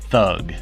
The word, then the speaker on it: thug: thief or a criminal they pronounce it tugi or tug we pronounce it thug question 13 in the